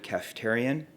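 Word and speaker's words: Kaftarian: okay thank you very much my name is Dr cafeterian my first name is spelled last name k-a-f-t-a-r-i-a-n and I'm with orbit health telepsychiatry good afternoon ladies and gentlemen I'm Dr cafeterian a triple board certified psychiatrist with specializations in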